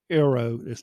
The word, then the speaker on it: eero: So I went with the Amazon Aero, and that's spelled EERO, mesh Wi-Fi system.